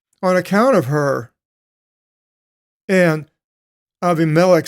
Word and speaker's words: Abimelech: long time and with Avi Malik and there's the Greek pronunciation instead of abimelech Avi Melech the king of Gerard